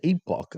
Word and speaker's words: epoch: No, that's an Epoch. I'm pretty sure it's pronounced as. It's like Enoch.